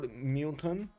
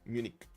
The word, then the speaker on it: Munich: Like that, Justice, like just a hard K at the end when you want to pronounce it in English. Okay, Munich.